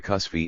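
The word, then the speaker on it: kusti: the most scrup one in India cusi is the current pronunciation and I have adopted that form two for a translation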